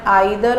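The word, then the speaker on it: either: अब same ईदर और नीदर, इन ईदर और नीदर के प्रोनाउंसिएशन आइदर और नाइदर भी होते हैं।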